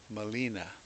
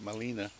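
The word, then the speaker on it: Gmelina: on these parrots beak Molina and it took me forever to remember that Molina is actually spelled with a G which is silent and it's oh there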